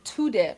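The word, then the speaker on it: Tudeh: So, one of the ways to do that was the Soviets created the Tudday Party. That's spelled T U D E H. And the Tudday Party was basically a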